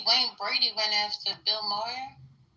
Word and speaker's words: Maher: thing, I see Wayne Brady went after Bill Moyer. How do you say his name? Moyer. Moyer. Saying he's a racist. Bill Maher.